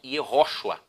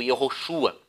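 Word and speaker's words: יהושע: Agora, uma coisa curiosa, os israelitas nos tempos de Josué e Moisés, eles pronunciavam Yehoshua, ou Yehoshua. Já no tempo de Esdras e Neemias era uma pronúncia um pouquinho diferente, era Yeshua. E um detalhe, os efraimitas da tribo de Efraim, quando eles pronunciavam, por exemplo, Josué, que é equivalente a Yeshua nos dias deles, eles diziam Yehoshua, não tinha a pronúncia do X.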